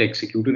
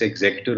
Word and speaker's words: executor: the will, or which we all end up pronouncing it executor. It's not executor, it's executor of the will, is in 2C, uh, probate is in 2F, and will is in 2H.